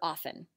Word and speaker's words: often: on to the spelling pattern we see for often which would be silent t there are a lot